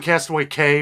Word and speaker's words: Castaway Cay: I keep saying Castaway Cay because it's C-A-Y, but it's pronounced Key, from what I understand.